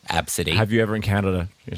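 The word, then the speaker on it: Abcd: Absidity.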